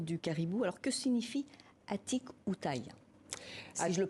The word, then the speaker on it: Atikoutaï: Alors que signifie Atikoutaï, si je le prononce bien?